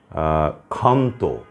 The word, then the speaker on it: ক্ষান্ত: তারপরে হচ্ছে আপনার ক্ষান্ত, প্রথমেই ক্ষীয় আছে, উচ্চারণ হচ্ছে ক্ষয়ের মতো।